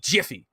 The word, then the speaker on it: Miffy: and confuse us because miffy has it in the game with an m m-i-f-f-y but it's supposed to be jiffy so now i'm confused because now we're saying miffy jiffy and everything else so